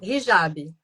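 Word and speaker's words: hijab: Eh, não sei se vou tá pronunciando certo. É Jab que fala o o como é que fala? Rijab.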